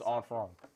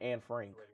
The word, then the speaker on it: Anne Frank: I learned that as on Frank. That's how I learned. That's how I learned. Like, because of where she was from, they were like, yeah, it's on Frank, not Anne Frank.